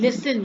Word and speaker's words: listen: And listen, you can see the T is silent.